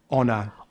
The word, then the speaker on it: honor: Usually words that start with the silent H are French borrowed words such as honest, Honest. hour, Hour. honor. Honor.